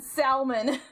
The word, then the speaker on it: salmon: Might as well start pronouncing the L in salmon.